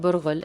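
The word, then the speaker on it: برغل: Starting with fine crushed bulgur wheat, pronounced burghul in Arabic, it's best to give it a wash to clean out any dust or unwanted particles.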